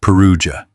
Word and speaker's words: Perugia: That summer, the heat in Rome drove the papal court, as it did every year, north to the cooler hills around Perugia, pronounced Perugia.